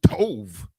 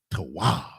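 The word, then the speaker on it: טוב: Black people, we don't tove, but tawab. Tawab.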